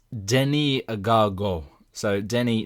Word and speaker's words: Denis: of the interview with this guest that they pronounced their first name and I just I just couldn't believe it it's Denny agago so Denny d n i s and